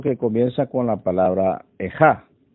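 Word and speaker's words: איכה: comienza con la palabra ejá, y así se pronuncia en hebreo, que como es sabido,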